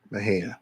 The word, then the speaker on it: Mexia: What it says is Mexia, but how you say it is Mahia. Mahia.